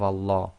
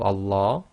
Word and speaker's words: Allah: So the Lam sound will now change to La, as in the English word large.